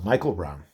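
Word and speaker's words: Miquel Brown: here it's pronounced Michael so that is pronounced Michael Michael Brown so um another Boogie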